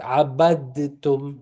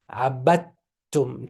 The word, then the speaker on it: عبدتم: The dal, you don't pronounce it at all.